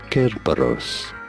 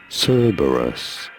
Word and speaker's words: Cerberus: of servers kerbers in Greek this is said Kerberos in English however this is said Cerberus you're the one to stress on the first syllable Dirge of Cerberus the